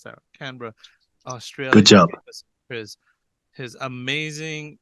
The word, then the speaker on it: Canberra: podcast we have father Alex Osborne from Canberra pronounce that Canberra Australia good job his amazing insane crazy trip